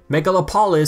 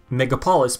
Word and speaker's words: Megalopolis: Megalopolis sounds like Megapolis, but Megalopolis has an extra syllable in it.